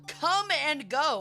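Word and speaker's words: Kum & Go: Okay, for example, if you ever drive through Arkansas, the number one common gas station in Arkansas is called Come and Go, and it's spelled K-U-M.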